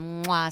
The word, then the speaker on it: Moi: So I own a company called Moi Studios. Sounds like a kiss.